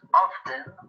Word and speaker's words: often: we use the adverbs often or frequently often can be pronounced two ways by pronouncing the t